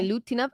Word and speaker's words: Milutinov: Milutinov. Okay, so you kind of emphasize the U in that one.